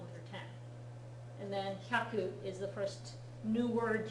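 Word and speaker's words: 百: So Hyaku. that's the small ya, so it's Hyaku. hyaku, Hyaku. hyaku, hyaku. Make sure that the hya is only one syllable, not two.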